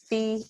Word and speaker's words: Fiat: And I am Fiat.